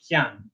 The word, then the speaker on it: pian: Whereas in this one, there is that little sense of the E contributing, and in this case, it comes out like the Y sound, so pian.